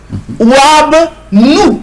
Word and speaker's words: Wab Nou: Wab Nou, nous c'est, ça s'écrit N-W, mais ça se lit nous, mm-hmm, comme N-O-U, mm-hmm, voilà, mm-hmm.